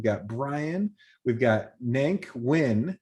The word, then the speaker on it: Nguyen: brian we've got nank nguyen i know how to say that because i've met people with that last name pronounced win from denver colorado and